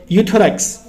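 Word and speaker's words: Euthyrox: उसका नाम क्या है यूथस यहां पे गाइस ई साइलेंट है सिर्फ यू पढ़ते हैं हम थायरॉक्स 100 के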